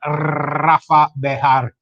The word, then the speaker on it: Rafa Bejar: For you that don't speak Spanish as well as we do, let me repronounce that. Rafa Bejar.